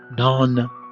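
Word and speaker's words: نان: We have the n or nun, pronounced n, n, n, and then we have n, a, n. Okay, non.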